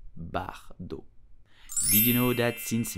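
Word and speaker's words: Bardot: it correctly in French you will simply say Bridget Bardo Brigitte Bardo the T at the end of Bardo is totally silent so you will say Bardo did you know that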